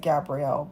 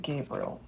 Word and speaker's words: Gabriel: I always pronounce it Gabriel, but some people pronounce it Gabriel.